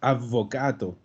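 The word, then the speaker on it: avvocato: Ah, El otro es advocato. ¿Ya? Y escuché por ahí de pasada que alguien me dijo advocato. Es lo que les decía. Si no hay doble, no se pronuncia.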